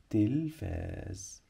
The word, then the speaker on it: التلفاز: غلط يبقى شاطر لان عندي هنا لام شمسيه لا تنطق بنكتبها وما بننطقها عشان هنا حرف اللام جه بعديه حرف التاء حرف التاء بيسبق دايما لام شمسيه لا تنطق تنطق تنطق التلفاز التلفاز اليوم لن اشاهد